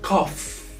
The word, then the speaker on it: cough: The OU are spelled as O, and the GH are spelled as F. So cough. Cough.